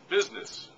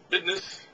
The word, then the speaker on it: business: Business. David Letterman pronounces it business, but it's business.